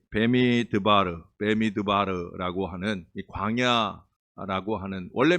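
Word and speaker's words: במדבר: 이제 저는 미드바 읽었는데 그 르 르라고 하는 발음이 하나 더 들어가죠 베르 베미드바르 베미드바르 이렇게 아까 나왔던 거 같아요 베미드바르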